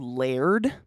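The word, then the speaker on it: Laird: so I found this dairy-free creamer it's called layered l-a-i-r-d is how you spell it and it is a powder creamer and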